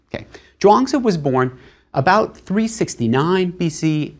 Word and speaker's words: Zhuangzi: It's spelled in more recent books as Zhuang, and then that Zi at the end. In earlier transcriptions, it'll be spelled Chuang, but it's always Zhuangzi rather than a CH sound.